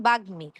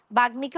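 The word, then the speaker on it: বাগ্মী: যেমন ধরুন বাগমি। বাগমিকে অনেকেই বলেন বাগি। বাগি হবে না। সঠিক উচ্চারণ হবে হল বাগমি।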